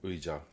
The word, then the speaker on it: 의자: Au lieu de dire 의자, euh, c'est plutôt 의자, 의자. Et le EI est un peu difficile. Elle a en fait très bien fait. Je fais normalement EI très vite. EI, EI, EI, 의자.